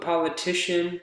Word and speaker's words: politician: is the one that's the strongest let's put politician oops let's put politician in the dictionary politician